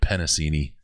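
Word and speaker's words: Penisini: It's Big John Penasini. And I said it right. That is not how I've been pronouncing it.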